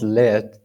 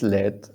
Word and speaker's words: lead: maybe i should add so so this with this pronunciation means to control a group of people a country or a situation but with that pronunciation that is led um okay i found